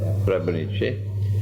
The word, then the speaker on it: Srebrenica: That's the correct pronunciation? Srebrenica.